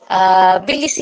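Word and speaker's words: Tbilisi: environmental education, Stockholm conference, बीलीसी conference होगा, थेलीसी conference नहीं होता है, बीलीसी है, स्पेलिंग रॉन्ग है, TBELISI होगा, एंड अर्थ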